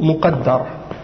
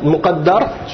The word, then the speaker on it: muqaddar: il est zahir ou muqaddar. Tu peux le voir, ok. Muqaddar, tu veux savoir comment ça s'écrit? Mim, qaf, dal, ra. Mais il y a une shadda sur le dal. Alors, ça c'est muqaddar.